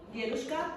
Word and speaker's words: дедушка: So my students ask me, teacher, why do dedushka, grandfather, ends with an A if it's a masculine word?